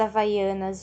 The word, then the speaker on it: havaianas: a letra h e esse h não representa som e representa o som das vogais que acompanham no caso havaianas o ar e horas